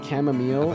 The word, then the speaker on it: chamomile: chamomile is how it's pronounced.